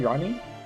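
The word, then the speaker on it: RANI: R A N I. Ronnie. It's weird they never made her summonable. Like So you're taking our acronym and sounding it out phonetically as a word for our name.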